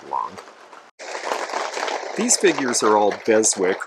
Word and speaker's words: Beswick: these figures are all beswick or bezek is a lot of the folks in england pronounce it and it's a great